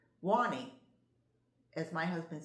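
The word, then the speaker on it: Juani: I pronounce it Jawani and it's J U A N I is her first name and she pronounces it Wanie as my husband says well that's how it should be pronounced.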